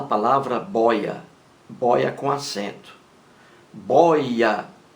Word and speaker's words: boia: bóia bóia com acento boya boya é uma palavra paroxítona possui duas sílabas boy a bóia e aí está